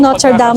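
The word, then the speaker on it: Notre-Dame: Ayan tapos may dumaan na bus and bus 37 hello ayan yung not Dam nila niya notre dam pero ang bigas niya not dam not dam. Oh, pero 'yung spelling niya notred dami.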